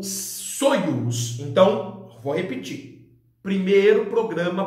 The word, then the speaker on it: Soyuz: Esse terceiro programa para 3 cosmonautas, ele é chamado de Soyuz. Em português a gente fala Soyuz. A pronúncia correta é Soyuz.